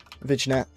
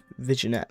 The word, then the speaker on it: vignette: Vignette vignette. Vignette vignette. It's called vignette. I'll make a light vignette. It's pronounced vignette. I don't I keep calling it visionette, but it's vignette.